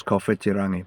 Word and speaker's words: Kowhitirangi: property at Kowhitirangi, called Kotarangi back then. But yeah, the proper Māori pronunciation of this town is Kowhitirangi, but yeah.